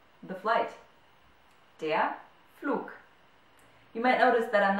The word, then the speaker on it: Flug: Der Flug, the flight. Der Flug. You might notice that I'm not saying der Flug, but I'm saying der Flug, as if there was a K at the end of a word.